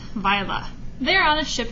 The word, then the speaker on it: Viola: Yes, it looks like Viola. Nope, it is pronounced Viola.